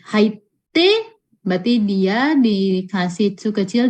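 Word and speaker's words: はいって: Kakoi, haite berarti dia dikasih tsu kecil di depan t. Gakko, kakoi, haite. Cara bacanya ya.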